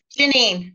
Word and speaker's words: Jaynine: as well hey is that how you pronounce the name Janine Janine oh I'm so sorry no that's okay